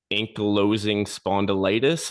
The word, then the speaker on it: ankylosing spondylitis: I'll try not to mispronounce ankylosing spondylitis.